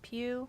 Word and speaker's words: Pugh: I want to say Pugh. Please tell me it's pronounced Pugh. Florence Pugh. Pugh? You're Silver 3? Hell yeah. Who do you play again? You play like Venom, right? Aw, it's Pew.